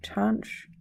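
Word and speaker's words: tanh: cosh we talked about hyperbolic tangent and that rhymes with branch so touch of X and then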